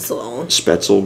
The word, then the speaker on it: Spoetzl: Spoetzl Brewery. That's how it's pronounced.